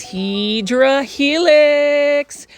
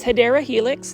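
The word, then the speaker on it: Hedera helix: Heedra helix or the correct way to say it is Hideera Helix.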